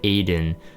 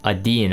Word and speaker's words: Adin: the new uh character aiden um adeen i think actually that i think it's a dean in terms of like the pronunciation of how i heard it uh phonically in korean um so adeen um